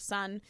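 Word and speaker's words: Sohn: It's Sun. It's pronounced Sun. S-O-H-N.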